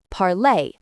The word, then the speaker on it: parlé: So, parler becomes parlay. Say it. Parlay. Let's put it together.